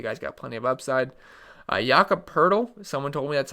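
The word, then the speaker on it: Jakob Pöltl: Jakob Poeltl. Someone told me that's how you pronounce his name.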